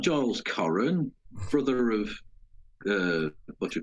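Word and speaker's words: Coren: Victoria Corran Mitchell.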